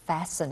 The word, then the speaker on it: fasten: You would fasten it. OK, fasten 这个字就是扣的意思。这个 T 是不发音的，同学要注意到。那 fasten 刚刚令老师的解释说，任何的纽扣子，或者是有 zipper 有拉链的，或者是那种扣环式的这样子的动作，都叫做 fasten.